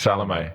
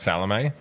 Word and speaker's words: Salame: It's Salame. Yeah. So it's spelled like salami, but with an E. With an E instead of an I, yeah. But it's pronounced Salame. Salame.